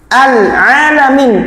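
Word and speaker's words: العالمين: Bayangin atuh mboten alamin pakai ain bukan alamin pakai hamzah.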